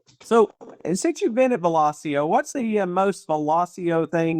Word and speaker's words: Velosio: Probably when we all met in Ohio on day one of Velosio, when we learned how to say Velosio. We did. The name came from the term velocity, and I'm glad that